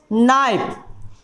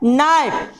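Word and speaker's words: knife: देखिए के का उच्चारण हो रहा है? नहीं हो रहा है, अर्थात के को हम नहीं बोल रहे हैं, इसलिए के यहाँ मेरा पर होगा साइलेंट लेटर।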